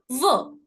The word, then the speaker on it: veux: Dipsticks rule, DPSTX. In the end, we don't pronounce it, right? Which is why we don't pronounce the X in both the cases. So technically what I'm left with is VEU and PEU. Now I know for a fact that EU put together gives me a. So je veux, je peux.